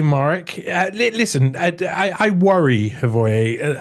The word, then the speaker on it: Morić: with the last name it should be Morić, like the Morić.